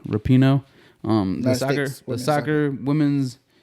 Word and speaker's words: Rapinoe: I want to talk about this Megan Rapinoe shit. I think that's how you say it in her name. Megan Rapinoe? Rapinoe.